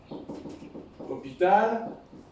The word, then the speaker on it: hôpital: à la forme négative, hôpital, parce que je vais rester moi. Je ne vais pas aller. Hôpital, c'est un mot qui commence par un H muet suivi d'une voyelle.